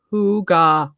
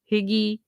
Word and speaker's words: hygge: like cb is here hoo gah homestead um i will always emphasize that because there for a while i i called it everything but hygge higgy hoogie yeah i'm terrible pronouncing things